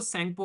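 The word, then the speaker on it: Tsangpo: इसको यारलंग जेंगपो बोलते हैं तिब्बत के अंदर में, या फिर इसको सेंगपो के नाम से जानते हैं, टी साइलेंट रहता है।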